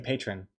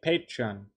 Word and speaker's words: Patreon: not pronouncing it correctly i keep saying patron hey patreon patreon patron patron i don't